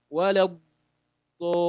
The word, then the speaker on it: ولا الضالين: ولا الضالين. So that's how to pronounce that.